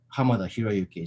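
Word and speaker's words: Hamada Hiroyuki: was pronounced uh differently my name is actually pronounced uh uh ham hiruki so the uh uh the last name comes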